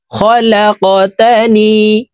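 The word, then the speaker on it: خلقتني: এই কফ কলকলার হরফ উপরের দিকে ধাবিত করে ধাক্কা দিয়ে উচ্চারণ করব। খলাকতানি ওয়া আনা আবদুকা, ওয়া আনা আবদুকা।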